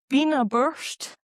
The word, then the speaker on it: Beinn a' Bhùird: So, we've got Beinn a' Bhuird, I think is how you pronounce it, which is a mountain in the Cairngorms.